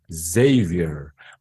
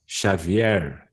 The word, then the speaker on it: Xavier: Xavier. My name is not Xavier, as in Portuguese. My name's Xavier.